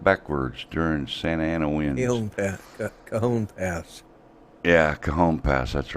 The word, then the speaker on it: Cajon: Yeah, see, out in California, J is pronounced with an H, because of the Spanish. So it's Cajon Pass.